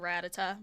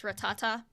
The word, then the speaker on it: Rattata: Uh, and then I'll always pronounce it like the Pokemon Ratata, but it's Rattata.